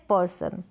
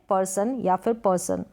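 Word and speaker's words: person: या कठोर नेक्स्ट है परसों क्या है पर्सन तो दोनों तरीके से प्रोनाउंस कर सकते हैं दोनों प्रनंसीएशन यहां पर मैंने दिया है मतलब व्यक्ति तो जितने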